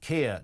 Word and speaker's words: Keir: any way, but if his name, Keir, didn't rhyme with tear, would we be, in